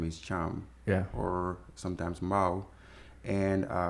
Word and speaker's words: Thiam: The name Thiam, is Thiam a family name? And again, am I saying it right? Yes, you do say it right.